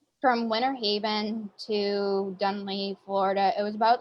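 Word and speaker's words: Dunnellon: Rainbow Springs is up in I always pronounce it wrong. Dunella, Florida. So it's from Winter Haven to Dunley, Florida.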